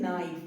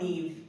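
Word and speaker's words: naive: pronounce this word incorrectly the correct pronunciation of this word is नाइव नॉट नेव एन ए आई व ई को आप नेव नहीं नाइव बोलेंगे ठीक है अब इसी डियम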